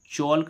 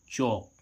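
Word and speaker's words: chalk: अब देखो यहां पर एल का उच्चारण नहीं हो रहा है। इसको चोल्क नहीं पढ़ेंगे। इसको क्या पढ़ेंगे? चौक।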